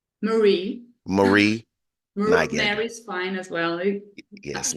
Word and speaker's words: Mari Nygander: But without further ado, I introduce to you Mary Nygander. Did I say it right? Marie. Marie Nygander.